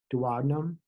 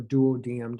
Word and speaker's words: duodenum: Consists of the duodenum or duodenum, depending on how you spell that.